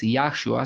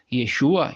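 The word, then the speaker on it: ישוע: Y ahora, pues lo encontramos que ya no pronuncia Yahweh, sino que pronuncia Yehovah. Y así bien entendió que el nombre del Redentor de ningún modo es Yahshua, sino que es Yeshua.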